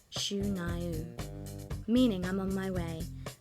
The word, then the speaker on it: Shania: Thus, our heroine began the decade by shedding her real name Eileen and adopting the Ojibwe Indian name of Shania, pronounced Shu-Naiu, meaning I'm on my way, and headed to Nashville to work on her first record.